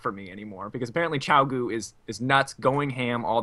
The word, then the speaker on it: Qiao Gu: tonight, whose name I already forgot how to pronounce, so bear with me. Qiao Gu. Yay! You got it. Yeah, you got it. Yes. Qiao Gu.